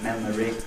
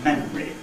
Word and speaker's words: memory: It might be memory, or it might even be memory.